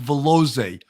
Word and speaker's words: Valoze: invitation and i know your last name is pronounced velozay phil wasn't listening to